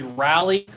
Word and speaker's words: Raleigh: is a 1968 raleigh it's spelled raleigh it's actually rally uh the english bicycle